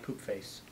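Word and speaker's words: Poopface: can work with the pronunciation how do you spell it oh it's uh p o o p f a CE so it's just poop face straight out yeah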